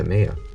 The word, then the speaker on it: Ipomoea: is based on the plant genus Ipomoea (pronounced i-puh-mia), which actually contains sweet potatoes,